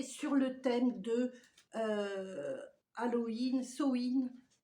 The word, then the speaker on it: Samhain: Alors dedans, donc cette box sorcière est sur le thème de Halloween, Samhain, Samhain, quand vous voulez que vous le prononcez. Moi je dis Samhain, hein, voilà, je le prononce comme ça.